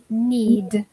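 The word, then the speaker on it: knead: so let's start with need the first one can anyone tell us what does it mean to need need which letter does it add up to remember that the K is silent the pronunciation is okay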